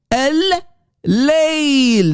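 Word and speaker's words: الليل: Do you hear the double L? L, guys, focus, please. Al-Layl. That's the way to say, the correct way to say the night.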